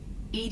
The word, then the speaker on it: EDI: are you named ed ed is the phonetic pronunciation of Ed I that is an acronym for enhanced defense intelligence yes nothing different where